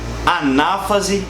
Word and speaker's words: anáfase: Só para esclarecer um negócio legal, todas essas palavras elas possuem um acento, tá? Prófase, metáfase, anáfase e telófase. Então, cuidado na hora de você pronunciar isso, porque a gente tem muito aluno que fala metafase, interfase, profase, tá bom? Tem um acento aí, beleza?